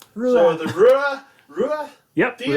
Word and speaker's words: Rua: Uh it's Irish for redhead because uh so how do you pronounce it? RUA. It's RUA.